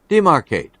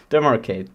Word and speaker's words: demarcate: Demarcate. Demarcate. Yeah. It sounds like Denmark, but with weird pronunciation. Demarcate.